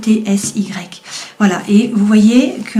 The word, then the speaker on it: Etsy: on dit en fait je sais pas comment on prononce c'est Etsy voilà et vous voyez